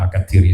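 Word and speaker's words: Al-Kathiri: Kalau tulisannya itu Al-Kasiri, tapi juga kemudian dibacanya Al-Katiri State Hadramaut seperti itu.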